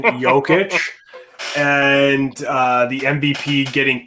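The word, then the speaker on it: Jokić: that let's go to joke uh sorry yoke yo sorry for the pronunciation jokic and uh the mvp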